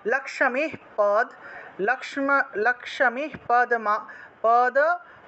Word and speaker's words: লক্ষ্মী: লক্ষ্মী পদ্মা সানা দেবী লক্ষ্মী উচ্চারণ হবে এই যে লক্ষ্মী আছে না আমরা বাংলায় যেটাকে লক্ষী উচ্চারণ করি খিয় তারপরে ম তারপরে দীর্ঘ ইকার তারপরে বিসর্গ ছিল এটাকে আমরা লক্ষ্মী উচ্চারণ করব লক্ষ্মী এখানে ভেঙে দিয়েছি লক্ষ্মী